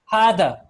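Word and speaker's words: هذا: There's no alif written after the ha, but when you're pronouncing it, you would pronounce it as hada.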